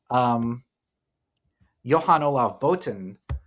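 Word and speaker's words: Johan-Olav Botn: winner of the race, Johan Olav Boten, Norwegian pronunciation. Good, Arthur? It's good enough.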